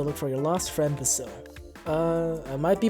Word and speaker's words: Basil: for your lost friend basil uh i might be pronouncing his name wrong but i've gotten so used to saying basil with the emphasis on the eye rather than on the a for basil uh if if saying